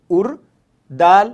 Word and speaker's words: اردو: से इस्तेमाल करते हैं, अलिफ रे पेश उर, दाल वाव पेश दू, उर्दू, उर्दू। और जैसा कि आप जान